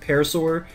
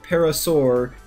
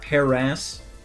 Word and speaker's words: parasaur: now technically it's pronounced parasaur. So, parasaur, not paras, not Paris, like the Pokemon, even though it's kind of spelled similarly.